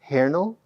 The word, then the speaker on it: Hähnel: All right, the name is Paul Hähnel. That's how you pronounce it because it's called an umlaut, which is the two dots. So that's actually how you pronounce it, Paul Hähnel.